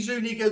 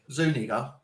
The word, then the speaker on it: Zuniga: Zuniga. Zuniga. That's how I said it. That's how it reads. Anyway, it's you say word. He said it with the soft A, not an ER. Yeah. Zuniga is how you're supposed to say that.